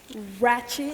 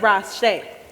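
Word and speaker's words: Ratched: you as well nurse ratchet it's pronounced rash it's French well anyway first and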